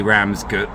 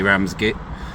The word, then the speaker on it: Ramsgate: You would never say Ramsgut, would you? You would never say Ramsgate. It would just be Ram's Gate.